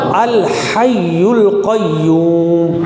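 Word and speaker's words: الحي القيوم: اللہ لا الہ الا ہو الحی القیوم. ہا کو گلے کے درمیان سے نکالیں گے. الحی القیوم. الحی القیوم نہیں کہیں گے، الحی القیوم نہیں کہنا، الحی القیوم، لا تأخذه سنة ولا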